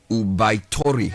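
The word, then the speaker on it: 桜梅桃李: The pronunciation is loosely Ubaitori.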